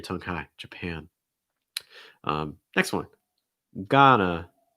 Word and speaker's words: Ghana: high japan next one ghana gotta get an ah sound then again that a sound again that we've seen uh you may hear an awe sound or you may hear an ah sound you'll hear both from native speakers just heads up um